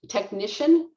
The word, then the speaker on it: technician: of work so um technician uh stresses on this second syllable so let's try that